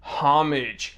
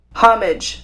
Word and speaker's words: homage: Well, according to this online dictionary, homage. Homage. They use the h in the h, whereas I just, I forget that it's there. I say homage.